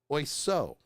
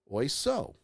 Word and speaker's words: oiseau: And it's spelled A-K-K-O-R-D, not A-C-C-O-R-D. Interesting. The shortest French word with all 5 vowels is oiseau.